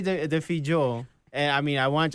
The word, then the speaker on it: Defillo: No, it's just it's like Defillo, and the L in Spanish is not the same sound.